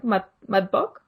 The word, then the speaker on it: MATBOCK: MATBOCK. Do I pronounce that correctly?